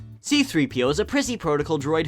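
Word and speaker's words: C-3PO: you say his name C3PO you see there's a slight pause after the C C3PO if you had the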